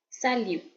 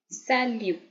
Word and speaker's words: salut: someone in French it's salute salute you can notice that we not speaking the T we not saying it as salute guing it salute that t is silent so please focus on